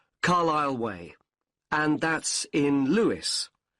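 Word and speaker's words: Carlisle: 45 Carlile Way. Could you spell Carlile for me? Sorry. It's C A R L I S L E. You don't pronounce the S. Carlile Way and that's in Lewis.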